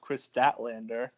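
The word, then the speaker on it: Kris Statlander: of all, it's pronounced Chris Statlander.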